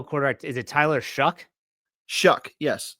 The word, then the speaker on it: Shough: Shuck, yes. Shuck. It's spelled Shough, but it's pronounced shuck, like you're shucking corn, like an ear of corn.